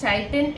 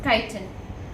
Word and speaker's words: chitin: cell wall contains chitin you do not pronounce it as titan it is chitin reserve food is in